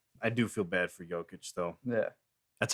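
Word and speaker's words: Jokić: Yeah, no, I do feel bad for Jokic though. Yeah, that's how you say his name, Bob. Jokic.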